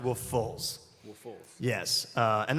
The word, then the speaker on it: Woofless: so it's spelled Woofless yes but it's actually pronounced wolf FS wolf FS yes uh and that's the thing is like all run into people like oh man hey wolf I'm like you have never seen one of